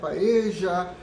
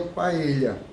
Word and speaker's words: paella: pronúncia correta é paella paeja é parede a bem se a gente leva em consideração que a origem espanhola a pronúncia seria paelha tá com a pronúncia do lh quando tem encontro de